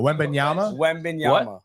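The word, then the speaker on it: Wembanyama: you say it like w no no no wenyama Wy no wenyama wenyama wenyama um and uh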